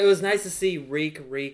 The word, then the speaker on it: Reek: It was nice to see Reek, it rhymes with Fleek, finally being on Fleek.